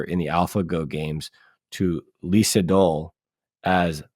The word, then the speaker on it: Lee Sedol: the AlphaGo games to Lee Sedol as Lee Sudong. I'm sure I'm mispronouncing it. Lee Sedol. It's probably Isedol, something closer to that.